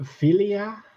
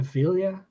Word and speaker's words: Vilya: But Vilya instead of Vilya.